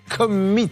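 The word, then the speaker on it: Commeett: correctement le nom de sa société qui est Commit. Très exactement. Exactement. Voilà. Ça s'écrit C-O-M-M-E-E-T-T.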